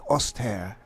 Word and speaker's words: Ostheer: first player right here playing as the austere or the austere as i've heard that it's uh more accurately pronounced is helping hans he's